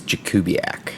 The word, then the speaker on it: Jakubiak: My last name is Jakubiak.